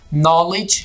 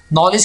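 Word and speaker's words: knowledge: इजाफा कर रहा है यहां पर हमने दी को साइलेंट तो रखना है ये दी हमारे पास साइलेंट होगा लेकिन इसके जो करेक्ट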